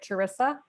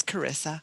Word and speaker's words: Carissa: it sounds clearly like, am I pronouncing your name right, Charissa? It's Carissa. Carissa, okay, yeah. Sorry, the H threw me off.